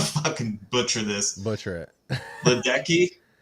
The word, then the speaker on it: Ledecky: Ledecky? Lil Dicky? No, Ledecky. Katie Ledecky.